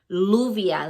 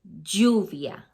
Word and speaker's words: lluvia: You don't say lluvia, like rain, you say lluvia, because the double L is always gonna sound like a Y in that sense.